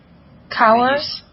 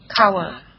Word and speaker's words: cower: Cower? Cower, right? Yes. Cower. Actually, the W is silent. It's very in detail now. I'm giving to you. Okay. So it is quite the same like flower.